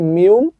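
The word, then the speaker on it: 미음: হবে ম কোরিয়ান বর্ণ যেটার নাম হচ্ছে মিউম কিন্তু রিডিং পড়ার সময় এটার উচ্চারণ হবে ম ঠিক আছে আচ্ছা পরবর্তী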